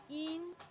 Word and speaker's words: yin: I am in P is pronounced as yin. Yin. It sounds just like yin as in bean.